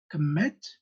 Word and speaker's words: commit: Commit. So the second syllable is mit.